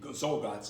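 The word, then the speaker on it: Czolgosz: And the anarchist, this guy that shot him, there's a funny name, Zolgotz, I pronounce it.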